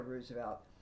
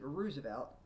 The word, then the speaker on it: Roosevelt: His br his brother, no, his cousin Theodore Roosevelt. They both have the same last name, but Theodore pronounced it Roosevelt and Franklin pronounced it Roosevelt.